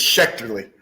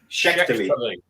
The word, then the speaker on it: Schechterle: Welcome to Talking Town, Schechterle. I do want to just sit here and listen to you guys say my name for a little while. All right. How did I get on? It's Schechterle. Schechterle.